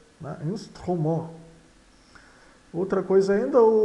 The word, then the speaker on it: instrument: Instrument. Outra coisa ainda, a palavrinha instrument, o T final é mudo, não soa.